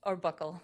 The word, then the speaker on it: buccal: Who took the, pronounce it buccal swab? Or buckle. Okay, either Either way one. is fine.